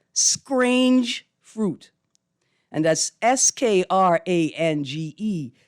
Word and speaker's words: scrange: the 2021 edition called scrange fruit and that's s-k-r-a-n-g-e playing on a common bahamian pronunciation of the word strange and this year's journal